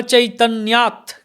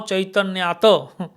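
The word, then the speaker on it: চৈতন্যাৎ: Na Chaitanyat. Krishna Jagati Paratattam Paramiha. Chaitanyat. It's not Na Chaitanyata. Na Chaitanyat. So Ta is pronounced half.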